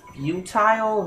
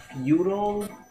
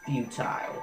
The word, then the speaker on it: futile: on did he just mispronounce it isn't it pronounced futile not feudal it's futile please watch Sensei I'll watch gu Sensei then